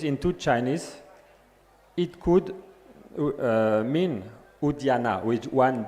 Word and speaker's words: Udyana: First, the name of a place, Udyana, U-D-Y-A-N-A, which is a spelling which relates to a pronunciation quite different from Udyan. It's different, Udyana.